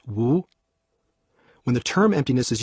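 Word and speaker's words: 無: and practice of emptiness emptiness in Chinese is pronounced Wu when the term emptiness is used in Taoist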